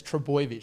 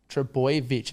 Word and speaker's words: Trbojevic: Yeah, it's Trbojevic. So it should be spelled TR, so boy, BOY, Trbojevic, VICH. Right, so not Trbojevic, Trbojevic. No, just Trbojevic. Because every time Trbojevic. Trbojevic gets rolled out.